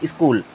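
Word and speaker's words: school: तो SCOOL हो गया। अब क्या पढ़ेंगे इसे? स्कूल। क्या पढ़ेंगे? स्कूल।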